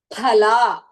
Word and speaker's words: phala: So whenever we are pronouncing phala, the second mahaprana pha should be pronounced like that.